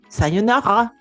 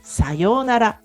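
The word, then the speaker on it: さようなら: Pour dire au revoir, la phrase sayonara est très connue, mais la plupart des francophones prononcent sayonara. Tu vois, le son yo est tiré. RA est prononcé là, donc c'est sayonara. Ce n'est pas sayonara.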